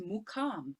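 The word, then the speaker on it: muqam: pronunciation is slightly different so there's the question there in the chat asking if it's makam or mukham so i mean the local term is mukam but i mean clearly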